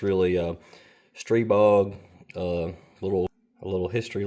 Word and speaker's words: Stribog: that name but uh everybody around here pronounces it stre bog so we are looking